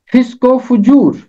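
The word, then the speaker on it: فسق و فجور: इसका दुरुस्त तलफ़ुज़ है फिस्क एक लफ्ज है, फुजूर दूसरा लफ्ज है और बीच में वाव आतिफा है, वाव अत्फ है, जिसने इन दोनों को मिला दिया। फिस्को फुजूर ये इसका तलफ़ुज़ है।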